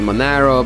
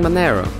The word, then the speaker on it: Monero: i know it should be mon arrow it should be monero but i don't know i like saying manero and of course cryptocurrency is a free world so no one will shank you're gonna pronounce monero as monero i hope now while